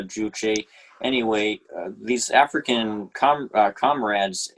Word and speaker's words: Juche: of socialism uh i've i thought it's it's pronounced juje but maybe this is just uh the way that english i'm you're a better expert than i am on this uh i i think i i'm pretty sure it's pronounced uh juche anyway these african com